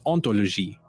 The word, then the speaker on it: hauntology: the resulting word is ontology which with its silent h sounds quite similar to ontology it's clever because ontology